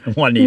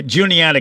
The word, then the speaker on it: Juniata: When you're on the road, you forget, Juanita County. Yeah, you didn't go to Juniata County, of course.